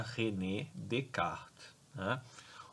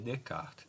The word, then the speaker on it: René Descartes: é francês tá então o nome dele e se pronuncia Renê de carga ele é de kart ele é um inaugurador